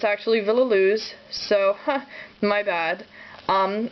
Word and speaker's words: Villaluz: It's according to this Nancy Solon Villoo. Uh I was calling her Villa Cruz for the longest time. It's actually Villoo.